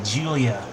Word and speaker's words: Giulia: Well, Grillo, Giulia, Giulia, Julia. I'm going to say that's Julia. I'm going to pronounce it Julia.